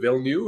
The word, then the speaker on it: Villeneuve: And they had both presidents, both Jay McNeil and Dwayne Villeneuve, I think is how you say his last name. Vino, yep.